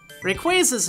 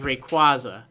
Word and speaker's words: Rayquaza: good going Team Aqua and Team Magma ah Rayquaza's name is often times pronounced as Rayquaza this makes sense in all and I even